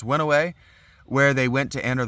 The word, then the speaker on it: Oenoe: I think that's pronounced Winnowe. Okay. It might be Oenoe.